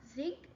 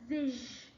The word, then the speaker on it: zig: Also remember that it's not zig, it's pronounced as zish.